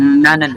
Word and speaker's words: 나는: Dibacanya apa ini? Berarti adalah 나는. Nanen.